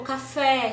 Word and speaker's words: café: Se a minha palavra eu considerei ela oxítona, a minha sílaba tônica é oxítona, então o acento tônico vai ser na última sílaba da palavra, na última sílaba. Como café, sabiá, ok?